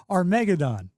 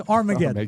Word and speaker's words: Armageddon: He produced he said this movie was called Argodon, but it's Armageddon.